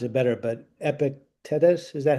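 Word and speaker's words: Epictetus: uh you probably know this name how to pronounce it better, but Epicetus, is that how you say it? Ep Epictitus.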